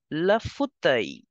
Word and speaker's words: fauteuil: Okay, the L in the end is for decoration. You will simply pronounce it as le fauteuil.